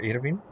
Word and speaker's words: Irwin: Entonces se pronuncia Irvin.